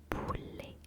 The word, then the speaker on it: poulet: in French we say poulet, poulet, poulet, poulet, poulet, poulet, poulet, poulet, poulet, poulet, poulet, P-O-U-L-E-T, P-O-U-L-E-T, poulet, poulet, poulet, poulet, poulet, poulet. The T at the end is silent.